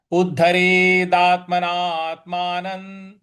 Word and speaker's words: उद्धरेदात्मनात्मानं: और उद्धरेदा, उद्धरेदा के बाद जो त है उस पे बल लगाएंगे, आघात देंगे। और उद्धरेदात्मना के बाद जो ना है उसके बाद भी आधा त आ रहा है। तो यहां पे थोड़ा दीर्घ खींचना है और उसके बाद त के ऊपर हल्का सा बल लगाएंगे।